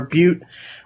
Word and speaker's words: Butte: They are from Deep Bend, Oregon, and it is the Black Butte or it's Butte, so I guess you'd pronounce it Boot or Butte Porter, and I think it's kind of one of Deschutes' flagship beers.